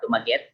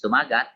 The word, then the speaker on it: Dumaget: nangyari doon sa mga dumaget. Dumaget po kasi yan ang pronunciation nila. They are commonly known as dumagat, yung ascription by others, but pag nagsalita po sila, dumaget kasi yung kanilang pinopronounce.